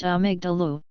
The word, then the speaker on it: amygdala: a region of the downstairs brain called the amygdala, pronounced amygdalu, which is responsible for quickly processing and expressing strong emotions, especially anger and fear.